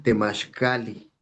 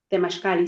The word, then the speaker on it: temaxcalli: Y a ver, Pues yo tiene poco que he seguido sus videos y bien, he escuchado que ustedes pronuncian Temashcali. Temashcali, sí, Y escuché que es la casa del conocimiento profundo.